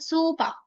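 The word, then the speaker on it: スーパー: तो इट is what कि हमने सु के पीछे भी लॉन्ग ये लगाना पड़ेगा और पा के पीछे भी लॉन्ग लगाना पड़ेगा ताकि इसकी साउंड हम सही से प्रोनाउंसिएशन भी कर पाए।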